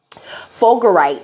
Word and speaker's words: fulgurite: Fulgurite is how you say it.